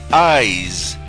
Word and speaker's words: eyes: pronuncia con s Ice la palabra eyes que significa ojos se pronuncia con z Z a eyes ojos